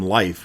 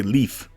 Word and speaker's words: Leif: wall who's next Leif the game calls him life which is amusing to me I guess some parts of the Netherlands pronounce it that way but they seem to be in the vast minority most say leaf or Leaf perhaps it's meant to